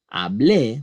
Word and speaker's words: hablé: Yo hablé is strong. Yo estuve, it is not.